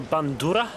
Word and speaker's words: bandura: called it's called a bandura uh pronounce a bit like the subur but you got to roll the hour of bit um I